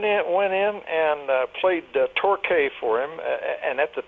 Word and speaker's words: Torquay: a resort on southern England and it's called Torquay but they spell it to your qu a why but it's pronounced Torquay and he said this song reminds me of